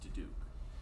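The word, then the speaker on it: Diduch: For the record, my last name is spelled D-I-D-U-C-H and pronounced DeDuke.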